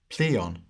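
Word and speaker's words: πλείων: play on us or with the modern pronunciation pleon pleonos plea on on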